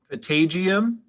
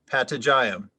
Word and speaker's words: patagium: alternate pronunciation could i have both of the pronunciations once again please potatium patagyam and you said it's from latin it is atagium p-a-t-a-g-i-u-m potagium that is correct all right so tanish we're